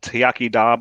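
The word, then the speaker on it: Iechyd da: this is a great product so it's it's pronounced yakida but it has seven so it's got 22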